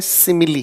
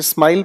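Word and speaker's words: simile: इसे हम पढ़ते हैं तो इसे हम कहते हैं सिमिली। कुछ लोग इसे स्माइल पढ़ रहे हैं, स्माइल नहीं, स्माइली भी नहीं है।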